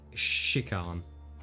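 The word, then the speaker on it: Shikhan: spell it sorry either it's like it's s-h-i-k-h-a-n and how do you is ch chick come yeah just like shikon okay okay joy i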